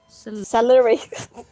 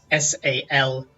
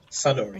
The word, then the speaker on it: Saluri: Celery.